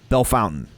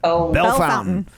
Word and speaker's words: Bellefontaine: place called uh b-e-l-f-o-u-n-t-a-i-n-e bellefontaine right belle fountain that's how we say it bell fountain like yeah but we're